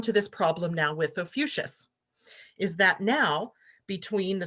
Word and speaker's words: Ophiuchus: I saw today that there's an alternate pronunciation, and now I'm going to blow it. Ophiuchus, something like that. So I'm going to stick with Ophiuchus because that's how I learned it.